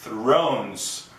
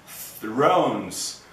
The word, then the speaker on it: Thrones: th então é Thrones Thrones para você aprender a fazer esse som assista o meu vídeo sobre o som do th ok você tem que colocar a língua entre os dentes e pronunciar Thrones Game of Thrones Game